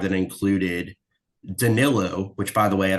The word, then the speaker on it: Danilo: Everybody says Donilo. Like, where are you looking at that name and thinking that Donalo is how you pronounce this man's name?